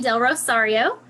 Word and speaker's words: DelRosario: with del Rosario am I saying your name right hey you are love your last name you should hear some of the ways that is pronounced with a real southern twang oh no no you said it perfect good well she owns